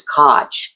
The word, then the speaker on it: Koch: When my great grandparents came over, it was Koch, Koch, and that was too. I don't know if it was too German or if it was too Jewish. So they changed the spelling and the pronunciation to Cook.